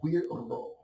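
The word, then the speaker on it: Güiro: There are two R's in the word. It's a Spanish word, so you must roll your R's. Guiro, right?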